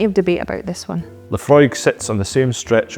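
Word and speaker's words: Laphroaig: debate about LEF frog you'll hear LEF LEF frog and many other mispronunciations so much so that LE fry have now actually added the pronunciation on the whiskey label The Distillery officially says Lefroy but you'll still hear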